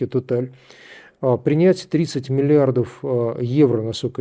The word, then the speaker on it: Total: Не так давно компания «Сакар», это главная ТНК, единственная, естественно, в Азербайджане, получила предложение от французской компании Total, мы нередко произносим на английский лад Total, по-французски Total, принять 30 миллиардов евро,